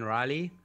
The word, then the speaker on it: Rielly: so as you said my name is Riley if you see my cinnamon you don't know how to pronounce it and I my business